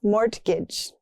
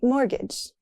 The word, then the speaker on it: mortgage: That T is silent. Not mortgage. It's mortgage. They applied for a mortgage.